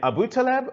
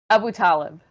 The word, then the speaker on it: Abu Talib: on the wrong syllable your last name abu taleb or abu talib abu talib ah i see i knew i mispronounced it the first time yasmin abu talib thank